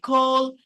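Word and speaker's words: call: Cairo ডেই ফর ডেই কল নট কল এটাকে আমরা বলি না কল করো আমাকে সি এ ডাবল এল এই ক টা হবে মানে সি টা খর মত উচ্চারণ হবে এই এ টা কিন্তু একটু অর মতো হয় এ না কল অর্থাৎ ইট রেড কার্পেট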